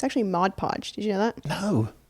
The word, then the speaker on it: Mod Podge: glue my puzzles because everyone just says Modge Podge because it rhymes. It rhymes. I like that. But on the actual bottle it's mod podge.